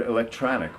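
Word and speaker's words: إلكتروني: And in Arabic, we tend to favor the word electronic, which is pronounced electroni in Arabic, and the feminine would be electronia.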